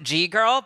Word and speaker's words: ggirl: That platform is GGIRL, which is to make your GG plots in real life. Some people may pronounce it G-girl, but it is officially GGIRL.